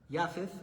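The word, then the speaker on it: يافث: And the third one is Japath. In Arabic, it's Yaf. Yafith is Japath.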